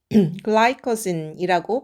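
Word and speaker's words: glycogen: 글라이커진이라고 발음은 하지만 우리가 글리코겐이라고 얘기를 해요.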